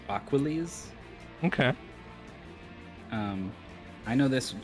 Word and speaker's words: Aquales: aqu aqu aqu um I choose to pronounce it like Hercules aquiles okay um I know